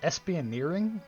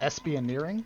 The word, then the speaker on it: espionage: they were dark times is it espioneering is that how you say that i didn't put that in there oh adam what is it espionage is how you say